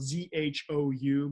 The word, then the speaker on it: Zhou: Zhou is spelled Z-H-O-U, but we pronounce it Zhou, just like, kind of like the name.